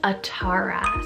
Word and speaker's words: Atara: So first name on the list is a girl's name, and this name is Atara.